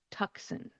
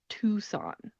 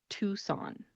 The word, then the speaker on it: Tucson: it should be pronounced Tucson. It is spelled Tucson. You would think Tucson, that seems like a very understandable pronunciation. However, the C in this word is not pronounced. So instead, it is Tucson.